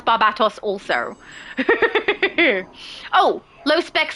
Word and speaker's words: Barbatos: See, David knows how to pronounce Barbatos also.